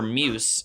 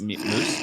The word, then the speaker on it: Muse: dead Sarah open for Muse in like First off, it's just Muse. I just said Mia Muse. That's what No, he said Muse. Moose. Muse. Muse. You made up a pronunciation of Moose.